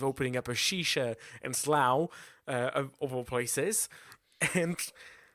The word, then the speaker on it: Slough: just nobody will notice it rhymes with cow and Slough there we go lovely